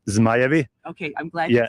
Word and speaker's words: Zmajevi: Louis Dragons for Kids, which I love because how do you say it in your language? Dragons. Yeah, dragons. No. It's not that true. What's the real? I mean, it relates actually to the national team. It's Zmajevi.